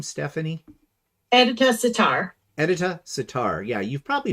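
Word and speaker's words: Edyta Sitar: is how do I say her name Stephanie edita sitar editor sitar yeah you've probably heard of her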